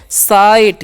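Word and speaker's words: sight: हो गया साई और जीएच यहां पर नहीं उच्चारण होता है इसका साइलेंट होता है तो क्या पढ़ेंगे साइट क्या पढ़ेंगे जी साइट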